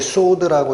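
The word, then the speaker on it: סוד: 이게 소드라고 읽히는 히브리어인데 이게 비밀이에요.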